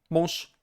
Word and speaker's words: mąż: If a word ends in a consonant, this consonant is voiceless, okay? No matter what, it is just voiceless.